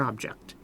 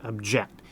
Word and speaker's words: object: And you'll notice that there we accent the second syllable. Object. Object. So when it's in the verb form, we accent the second syllable. When it's in the noun form, object, we accent the first syllable.